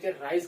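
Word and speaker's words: ρ: हमें कांस्टेंट मिल जाएगा जो की ग्रीक लेटर है जिसे हम प्रोनाउंस करते हैं रो ये रो है यह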